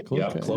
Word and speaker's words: Cloquet: Cloquet. Cloquet? Is that how you say that? Cloquet. Yeah, Cloquet. That's how you say it. It goes back to the French fur trading days.